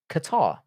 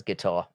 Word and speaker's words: Qatar: Qatar. I love how people pronounce it as guitar.